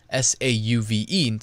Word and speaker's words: Sauve: The shop is called Sauve Deluxe, except it's S-A-U-V-E. So I guess it's not Suave, it's Sauve Deluxe.